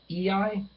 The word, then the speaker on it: Ea: Number 9 is EI, which is spelled E-A.